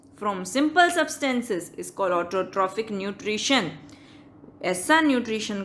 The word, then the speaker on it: autotrophic: तो PH जहाँ पे भी होता है ना उसको F प्रोनाउंस करते हैं, ऑटोट्रॉपिक मत बोलना, ऑटोट्रॉफिक।